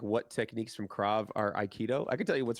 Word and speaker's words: aikido: judo, aikido, and wrestling. Yeah. Groundwork, judo and wrestling, escapes from chokes, Jiu-jitsu. judo and wrestling, and then it's called aikido, right?